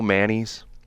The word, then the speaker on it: Manise: her name again Joe manise Joe Manis yeah she she pronounced the last name Manis but it looks like manise yeah and they footnoted